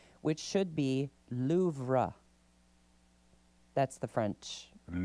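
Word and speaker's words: Louvre: The Louv made the list of October's crown jewel theft sparked news coverage with many incorrectly pronouncing the words most visited museum's name which should be loura.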